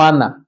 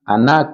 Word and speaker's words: Aná: sobal sibe y aná no Ana aná con acento en la pero mire de qué